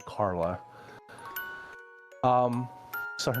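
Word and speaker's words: Karly: random name generator said Carla. Um, so her name is Carla, but with like a k a r l y a strange spelling to it. Um, the y is silent.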